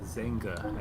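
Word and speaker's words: Xanga: Spelled with an X. That is pronounced Zenga, I think.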